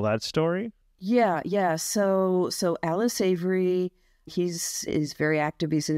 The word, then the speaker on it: Savory: Is his name, do you pronounce it Savory? S-A-V-O-R-Y. Oh, Alan Savory.